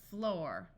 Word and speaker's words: floor: good w o woof there are a few words where oo has the long o sound however this is not very common D or door F floor P or po this